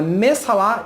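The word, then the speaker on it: Messahala: esse é o autor se você pegar como está escrito aqui está escrito marcha larrat e bem atari do na verdade você pronuncia mês falar então é messala e beni atari e o nome desse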